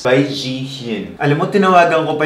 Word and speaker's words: Zhiyun: Alam mo, tinawagan ko pa yung ano ko, yung ex ko na Chinese para lang alamin ko paano i-pronounce. I still don't know if I can pronounce it correctly. Pero yun nga, sabi niya Zhiyun.